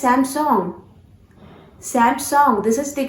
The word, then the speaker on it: Samsung: Samsung. No, this was a wrong pronunciation actually. Samsung, which you guys used to pronounce. This is not Samsung. You have to pronounce this word as Samsung.